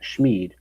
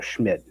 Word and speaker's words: Schmid: Um it's funny cuz I saw when I was looking up the pronunciation that Vegas fans chant Schmeid or me and he apparently came out and said he prefers the kid version. So Schmid is correct from what it sounded like.